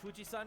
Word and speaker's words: Fujisan: I mean, technically Japan pronounces it Fujisan with the Onyomi reading of the mountain character for Fujisan?